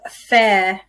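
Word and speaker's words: Fayre: And it's a festive fair. Is that how you pronounce it? Yep. Festive Fair gin. And the reason I say I asked Debbie how to pronounce it is because it's spelled F-A-Y-R-E.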